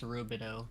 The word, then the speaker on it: Rubidoux: I believe it's pronounced Rubidoux. It is pronounced Rubidoux. Okay. Because when I think of I think of EAUX, like a lot of people in Louisiana pronounce it.